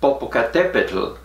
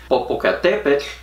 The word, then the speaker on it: Popocatépetl: Popocatépetl has 5 syllables. Tumbaburros only has 4. And Popocatépetl has this funny TL sound.